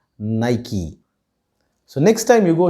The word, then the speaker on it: Nike: using it too but there are many of us who still pronounce it as nike but the right way to pronounce this brand name is nike so next time you